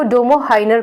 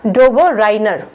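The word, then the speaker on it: Döbereiner: German में इनको डोबो हाइनर कहेंगे, डोबो हाइनर। लेकिन अगर आप इंग्लिश में इनका नाम पढ़ेंगे तो आप इसका प्रोनाउंसिएशन करेंगे डोबो राइनर, राइट। ठीक है, तो डोबो हाइनर या डोबो राइनर दोनों ही करेक्ट है, एक जर्मन में एक अंग्रेजी में।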